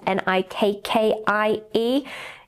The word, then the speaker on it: Nikkei: And I think it's pronounced Nikkei, which is Nikkie.